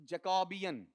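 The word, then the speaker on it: Jacobean: तो जैकबियन, गौर करना, इसका उच्चारण ही हल्का सा कमजोर हो जाएगा। इसे क्या पढ़ा जाएगा बताओ आपका, जैकबियन, ठीक है। अब ऐसा नहीं, जैकबियन, क्या हो जाएगा, जैकबियन। मतलब स्ट्रेस यहां से प्रोसीड आगे कर जाएगा, क्योंकि अपने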